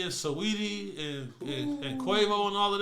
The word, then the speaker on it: Saweetie: Cardi was nailing Sweetie. Saweetie. I know you gotta say her name like that for some odd reason.